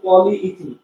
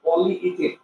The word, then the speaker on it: পলিইথিন: আমরা যে বাজার সদর করার সময় কিছু একটা কিনতে গেলে পলিথিন দেওয়া গেল, আসলে এটা পলিইথিন, ইথিনের অনেকগুলো অণু, পলি মানে অনেক, ঠিক আছে, আসলে এটা উচ্চারণ হবে পলিইথিন, অনেকগুলো পলিথিন, পলিথিন বিষয়টা এরকম না, পলিইথিন।